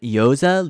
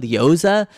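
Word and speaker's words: Iozzia: lot his name ryan yoza lyoza it's like an italian name it's spelled i o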